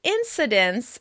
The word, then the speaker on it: incidence: The word "incidence" is often pronounced with a /t/ sound between the final /n/ and /s/.